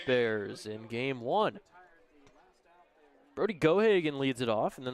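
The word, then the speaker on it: Geoghagan: Gohagen is the spelling of Gohagen is is really interesting. G E O G H A G- A. Sounds like it would be Gog Ghagen. But the G is silent.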